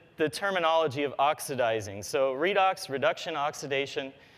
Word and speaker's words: Redox: So Redux reduction oxidation. It also kind of rhymes with Unix and Linux.